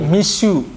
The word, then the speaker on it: Mixue: aja bisa diisi oleh miss you ngeri juga nih bacanya bukan Mitsu ya tapi miss you dari bisnis muda